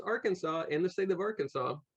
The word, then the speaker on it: Arkansas: came down here well we got that silent s that's right there was supposedly going to be a war between Arkansas and Kansas over the